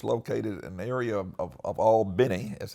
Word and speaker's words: Albany: So we arrived in Southwest Georgia after driving all night at the SNCC office, which is located in an area of Albany, as it's pronounced, called Harlem, and which was, in some ways, it was like miniature New York Harlem.